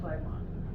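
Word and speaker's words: phlegmon: the tissues okay yeah so that's called a flagon how do you say spell that p h l e g m o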